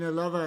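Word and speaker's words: Ελλάδα: I mean, Elava is how you would pronounce it in Greek.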